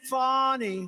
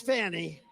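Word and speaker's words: Fani: now even though it's I believe it's spelled f a ni I to my way of thinking that's Fanny but when she became the district attorney I think she put a little emphasis on the you fonnie so corrupt fonnie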